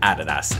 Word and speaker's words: Adidas: We're looking at Nike and we're looking at Adidas. And yes, I pronounced both of them correctly. I don't give a shit how you pronounce it. It's Nike and Adidas, and if you don't like it, you're wrong